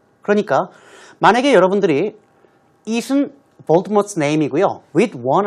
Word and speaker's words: Voldemort: The name should be pronounced Voldemort, not Voldemort. 발음이 Voldemort라고 발음해야지 T를 써서 Voldemort라고 하면 안 된다고 Rowling said on Twitter.